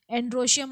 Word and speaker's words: androecium: एंड्रोशियम मतलब mail, spelling ध्यान रखिएगा, ANDROECIUM, एंड्रोशियम, that is the male reproductive part of the flower.